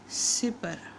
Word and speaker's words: سپر: بے کے اوپر زبر۔ سپر، سپر، سین کے نیچے زیر، پے کے اوپر زبر۔ یہ اعراب ہو گئے۔